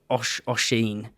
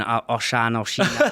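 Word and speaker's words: Oisín: Mate, the guy I interviewed this morning, his name's Oshin. It's Irish. I was going Oshan.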